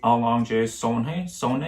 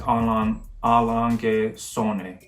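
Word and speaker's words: A. Lange & Söhne: But yeah, so my favorite is Allonge Sonne. I'm pretty sure that's how you pronounce it. I'll put the clip up again. A, Lange und Sohne.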